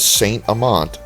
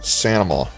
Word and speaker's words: St. Amant: Okay, I don't think the people here actually talk like that, but locally the name is pronounced something like Sanama.